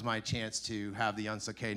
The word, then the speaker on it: Unsukay: Once no one can pronounce it, but once you hear it and understand it's a completely fabricated word that sounds French for doesn't suck, which is kind of a guiding principle of ours, then you don't forget it.